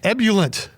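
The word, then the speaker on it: ebullient: word of the day ebullet e-b-u-l-l-i-e-n-t three syllables meanings overflowing with enthusiasm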